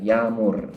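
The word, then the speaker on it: yağmur: yang lain adalah yamur jadi tulisannya Ada ia kmur tapi itu membacanya kalau orang-orang kita dengar dari orang Turki itu seperti tidak terbaca aja Dianya agak panjang yamur gitu kemudian selanjutnya ada huruf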